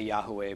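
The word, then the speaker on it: Yahweh: about that and EFT we say Yahoo Way but we don't claim that that's the one and only pronunciation when he comes back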